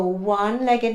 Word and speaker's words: one-legged: So we have a union, again it's a y sound, so it's a unicorn, a used napkin, or a one-legged man, it sounds like a w.